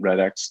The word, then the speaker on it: REDx: It's actually Red Talks. I mean, people often get confused. Is it REDx or is it just Red Talk? The X is silent, like my last name. So some people say, some people say REDx, but it's silent, like the French X